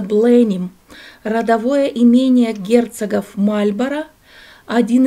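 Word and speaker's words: Blenheim: Это дворец Бленхейм, или по-английски произносится Бленим, родовое имение герцогов Мальборо, один из крупнейших дворцово-парковых ансамблей Англии, который расположен на окраине Вудстока в графстве Оксфордшир.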